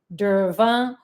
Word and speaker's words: durva: it is fine it's also called durva d-u-r-v-a derva or bermuda grass so it's fine and it's